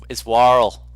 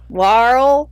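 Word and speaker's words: Waarl: It's Warl. Warl. Warl. Warl. You're gonna have to spell that for me, Don.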